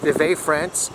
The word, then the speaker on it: Vevey: And we are now in a town called Vevey. Is that pronounced right, Avalon? Yep. Vevey, Switzerland.